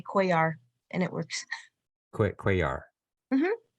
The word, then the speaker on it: Cuellar: The last name is Cuellar? Is that how you pronounce that? Cuellar. It's like quasar Cuellar. without the Z.